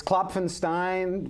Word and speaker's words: Klopfenstein: pronounce here because I I'm confused by the p and the H is it CL Clen kloin it's kapenstein kapenstein CU I was going